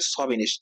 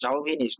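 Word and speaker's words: chauvinist: তো এটা উচ্চারণ হচ্ছে সভিনিস্ট, জাউভিনিস্ট না, এটা সভিনিস্ট।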